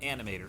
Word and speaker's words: Anim8or: Also, for those of you who are curious, the program I'm using is called Animator, spelled with an 8, so that's ANIM8OR. It's a freeware CGI creation